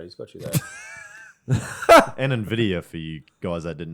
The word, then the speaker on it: NVIDIA: And NVIDIA for you guys that didn't know how to say it properly.